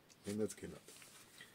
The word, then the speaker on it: Lynyrd Skynyrd: Lynyrd Skynyrd pronounced. Lynyrd Skynyrd.